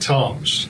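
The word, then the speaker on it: Tzomes: Submarine was uh Pete Toms spells his name TZ Mees but he pronounces it Tom's uh we lost uh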